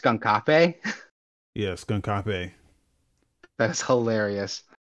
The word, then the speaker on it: Skunkape: It's the remaster being developed by you said it's pronounced Skunkape?